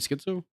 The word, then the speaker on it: schizo: I don't actually have Shizo ramblings. I don't. Shizo? Yeah, like, you know. You mean schizo? Oh yeah, I like calling it that way. I know schizo is the proper way to say it, but I just like.